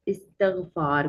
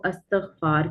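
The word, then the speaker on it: استغفار: जाता है कि आप इस्तगफार करें, क्या कहा जाता है, इस्तगफार करें, तो ज्यादातर जो है वो अस्तगफार करें हम गलत बोल देते हैं, जो कि सही इसकी प्रोनाउंसिएशन है इस्तगफार करें।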